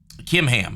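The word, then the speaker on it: Chimham: He bowed out graciously, but he said, but my Kimham, that's how you say his name there.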